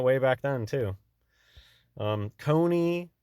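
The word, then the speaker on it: Coney: back then too um Cony rhymes with phony and Cone a cone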